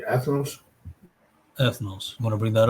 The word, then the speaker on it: ethnos: g484 g484 ethos right let's get the pronunciation s g 1484 ethnos ethnos you got to understand